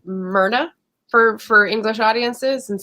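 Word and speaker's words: Muirne: in various talks like there's a m-u-i-r-n-e and it's like myrna for for english audiences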